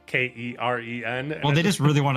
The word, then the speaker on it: Keren: I had to actually like look up a bunch of sites and make sure it's not pronounced Karen, because it's actually Keren.